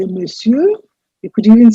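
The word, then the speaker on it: monsieur: perfect pronunciation for this i have given you the equivalent in davina agree script which says miss you miss you the stress is on the first pattern and that means mr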